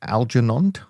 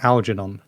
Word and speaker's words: Algernon: All right, then we have a question from Algernond. I'm not sure I'm pronouncing that right, but anyways. So this is one of those very old-fashioned British names that I think you should pronounce it Algernond.